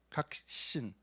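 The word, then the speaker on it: 確信: 확신을 일본말로 뭐라는가 하면 각신이라고 합니다. 그렇죠? 각신.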